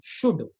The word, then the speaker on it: should: लिखिए, subject plus शुड, SHOULD, L silent रहता है, शुड प्लस V1, वर्ब का पहला फॉर्म।